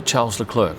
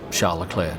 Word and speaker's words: Charles Leclerc: then we come to charles leclerc or charla claire depending how you pronounce it i've snapped him in